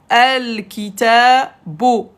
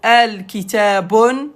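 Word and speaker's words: الكتاب: Le livre, al-kitabu. On ne peut pas avoir les deux dans le même mot. Al-kitabun, c'est faux. Al-kitabun, c'est faux. Al-kitabu. Al-kitabu.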